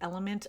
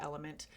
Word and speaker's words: LMNT: I also really like the Element electrolyte packets. They've got some fun summer flavors right now. I am not an affiliate, by the way, of either Polar or Element.